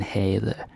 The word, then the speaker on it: havde: And this one can be a little bit frustrating, because the pronunciation in havde, you don't say the V. Yeah, let's take that again. Havde, right? Damen, havde. The V is not pronounced.